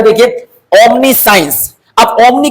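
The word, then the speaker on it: omniscience: साइंस यहां पर देखिए इसका साइंस ओमनी साइंस भी यहां सी आई का साउंड क्या हो रहा है उच्चारण सा हो रहा है तो दोस्तों ओमनी का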